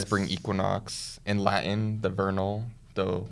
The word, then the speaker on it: vernal: Equinox in Latin the Vernal the wernel because the V is pronounced as a w Equinox okay um I